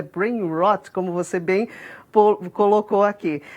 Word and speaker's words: brain rot: É possível ter uma sensação desse brain rot, até corrigindo a pronúncia que eu falei, o hot, dá a impressão de ser quente, né? Mas é brain rot, como você bem colocou aqui.